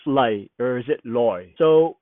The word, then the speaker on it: 來: light or is it loy so when we read it it is pronounced loi but when we say it it's pronounced li they with an e